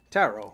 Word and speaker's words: tarot: movie and tet yeah tarot rhymes with Caro okay but every so